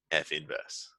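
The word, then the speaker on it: f⁻¹: in its own right so it's gonna be f inverse is how we pronounce this F inverse I'm not gonna worry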